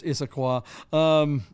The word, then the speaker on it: Issaquah: I mean, by the way, it's Issaquah. Yeah, I said Issaquah. Issaquah. Yeah, I put the emphasis on the incorrect syllable, but it's all those weird Indian names in the Northwest.